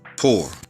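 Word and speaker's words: πῦρ: Greek in the Greek it's uh poor that's how you pronounce it in the Greek for fire 44-42 poor poor all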